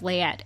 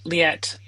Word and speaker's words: Leatt: about your um sales and brand manager of leet and did I pronounce that right leet so it's leet leet oh I am so